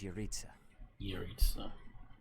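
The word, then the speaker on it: Jeritza: plausible to assume that his true identity is uriza so that is how you pronounce it and we cannot forget about the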